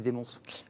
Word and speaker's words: Desmonts: Là, je l'ai bien prononcé, Félix Desmonts. Oui, presque. Desmonts. Desmonts, tout à fait.